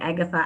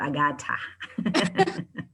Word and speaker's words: Agatha: name is agasta atlang agatha atlanta however you want to pronounce it as long as if it's not agata yes so um i'm